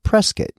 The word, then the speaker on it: Prescott: well that look like Prescott to me but around here they say Prescot and why well the